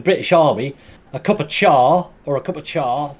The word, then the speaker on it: chai: called chai or char it actually pronounced char although it's spelt chai and the the china